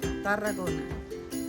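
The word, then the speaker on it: Tarragona: Congress is held and this city is called taragona how do you roll their you have to put your tongue roll foreign agona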